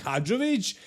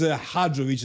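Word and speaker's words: Hadžović: And in Sadik's case, it's actually Sadik, not Sadik, and his last name is Hadzovic, not Hadzovic.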